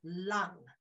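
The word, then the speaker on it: 龙: The Chinese word for dragon is long, pronounced lung, like the lung that you breathe with.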